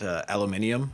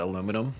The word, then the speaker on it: aluminium: I also, on this topic, I like to pronounce it aluminium, not aluminum.